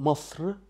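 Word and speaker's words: مصر: An example, Masr, Masr, Egypt, doesn't have eh at the end.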